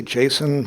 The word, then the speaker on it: JSON: I say JSON, most people say JSON. It turns out the correct pronunciation is JSON.